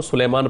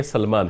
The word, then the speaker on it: سلمان: کی اصلاح چاہتا ہوں۔ بعض لوگ آپ کو سلیمان پڑھتے ہیں، سلیمان نہیں بلکہ سلمان ہے، یہ یا کے ساتھ نہیں ہے، تو اس کو تلفظ کو درست ہونا چاہیے۔ دوسری بات یہ ہے